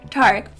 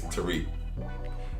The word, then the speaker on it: Tarik: Because it's an Arabic name, and in its origin, it is Tarik. So most in the Middle Easterners would pronounce it that way, but my mom decided to switch it up and do what she wanted to do with it. Okay. And so that's why my particular name is Tarik, but the actual pronunciation, the way it's spelled, is kind of technically Tarik.